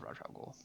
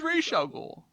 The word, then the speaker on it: Ra's al Ghul: Also, I love Raj Al Ghul. Like I love him. He's good. I know it's Ra's al Ghul. You can pronounce it either way.